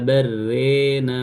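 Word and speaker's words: بل ران: Kalla barrana harusnya kan, tapi diimalahkan. Kalla barrena ala qulubihim. Barrena, ya, barrena.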